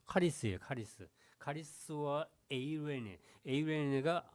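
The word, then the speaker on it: χάρις: 카리스인데 카가 아니고 카카이 그 발음이 좀 힘들어요. 카리스예요.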